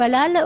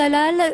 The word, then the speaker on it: halal: qui est vraiment halal la viande halal prononcé Halel en arabe justement qu'est-ce que c'est